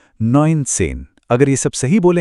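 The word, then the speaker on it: neunzehn: और हमारा आखिरी चैलेंज था नसेन। इसे कहेंगे नइनसेन।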